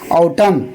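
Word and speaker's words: autumn: N silent हो जाएगा। एन को नहीं पढ़ना है जी बल्कि पढ़ना है ऑटम।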